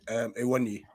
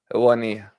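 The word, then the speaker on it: Awoniyi: Iwani. Did I pronounce it correctly? Owani. Owani, yeah.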